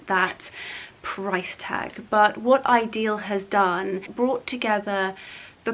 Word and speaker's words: Idyl: So to give you a close-up of the branding, it is called and pronounced Idyl.